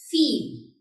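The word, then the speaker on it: viel: Feel. V-I-E-L. Feel. You must be knowing that V is pronounced as V and I-E is pronounced as E.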